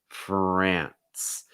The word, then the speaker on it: France: and and and fran france france notice also that nce makes almost like an nts sound ants ants france france